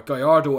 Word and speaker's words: Gallardo: starting off with the Lamborghini Gallardo or Gallardo if you want to say it properly so this is a